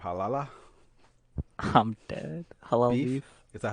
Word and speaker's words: Halal Beef: Halal Beef.